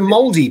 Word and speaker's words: Māori: Did you say the Māori people? Yeah, that's how they pronounce it. Māori. Maori. Okay. Maori, mate. Maori. The Māori people. Yeah, got to roll your R's.